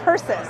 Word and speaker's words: Persis: Persis. Yes. I said it right. Yes. I like it because purses. It makes it easy to remember because Yeah. I like to remember purses.